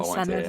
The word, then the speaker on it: Senedd: That's on Senedd there. You got the double D, so I'm really proud of you.